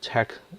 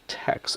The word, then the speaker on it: TeX: show math as your Tech command it's not pronounced as Tex it is just Tech I cannot really properly